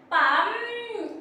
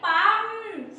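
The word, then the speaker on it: palm: उसके इंग्लिश होती है पं अब देखिए इसकी स्पेलिंग भले बी ए ल एम ल लेकिन ल जो है वो साइलेंट है चुपचाप रहेगा उसको आप प्रोनाउंस नहीं करेंगे बस कहेंगे पं तो हथेली की इंग्लिश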